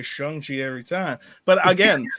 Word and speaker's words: Shang-Chi: yeah chung chi chi i keep want to say shang because i look at it and i think s-h-a-n-g like yeah his name is his well i guess name yeah sean and it sounds similar so it shung i was going to say if you want me to just say it by looking at it make it s h u and then i'll say shang chi every time but again